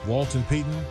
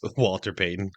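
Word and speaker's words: Walter Payton: even over Barry Sanders Walton pton or Jim Brown did he mispronounce Walter pyton Walton come on guy of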